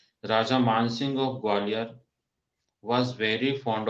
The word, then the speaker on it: राजा मान सिंह: आया राजा मान सिंह, तो MAN आया, तो उसमें हमने उसको मान पढ़ा, ओके, राजा मान सिंह। तो इसको राजा मन सिंह मत पढ़ना, ओके। तो आपको ये क्लियर होना चाहिए, आपको अंडरस्टैंडिंग होनी चाहिए कि इसका प्रोनाउंसिएशन क्या होगा। तो राजा मान सिंह होता है, राजा मन सिंह नहीं होता, ओके।